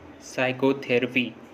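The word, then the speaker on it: psychotherapy: P silent होता है, एस से पहले पी साइलेंट होता है। जैसे साइकोलॉजी, साइकेट्रिस्ट, साइकोथेरेपी, इन सभी वर्ड्स में देखिए एस से पहले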